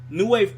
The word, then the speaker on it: NuWave: at manipulating the crowd like NuWave pro i say it like new wave probe you just it's it's